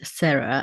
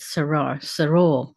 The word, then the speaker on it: Sarah: The accent on the last syllable with clear vowels as they are in Spanish."